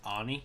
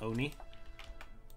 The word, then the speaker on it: Oni: like ticked off when people say Ani instead of Oni, because it's supposed to be pronounced Oni or if you want to be more like weeaboo, it's Oni. It's like Oni or something like that. Like, because it's based on the Japanese word oni or oni.